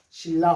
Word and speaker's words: 신라: 이 신라 호텔 읽을 수 있어야지 찾아가겠죠? 신라 호텔.